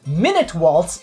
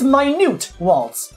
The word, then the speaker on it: Minute Waltz: It's not minute waltz, it's minute waltz. Minute meaning small.